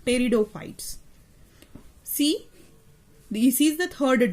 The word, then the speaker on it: pteridophytes: The P is silent while pronunciation. See, you have to pronunciate it like pteridophytes.